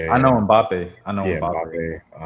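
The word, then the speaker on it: Mbappé: Oh, you talking about Mbappe? Mbapp. Yeah. Yeah, I know Mbappe.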